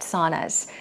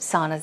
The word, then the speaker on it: sauna: you can get at saunas, at most saunas that is. So today we talked about saunas. Once again, how do you pronounce it? Sauna, sauna. It's not sauna, it's sauna, sauna.